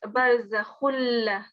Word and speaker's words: برزخ لا: مرج البحرين يلتقيان بينهما برزخ لا It's khulla, so it's barzakhulla.